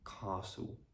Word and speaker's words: castle: So for example, in the words castle, apostle, bustle, hustle, whistle, mistletoe, bristle.